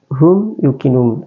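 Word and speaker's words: هُمْ يُوقِنُونَ: Cara bacanya izhar syafawi, yaitu huruf mim sukun dibaca dengan jelas, tidak dengung ya.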